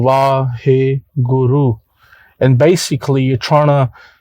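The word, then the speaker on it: Waheguru: You breathe in Vahe Guru. This is 4 syllable Vahe Guru, and basically you're trying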